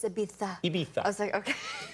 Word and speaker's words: Ibiza: been there well I Americans say Ibiza but if you go to say they say Abita what are they doing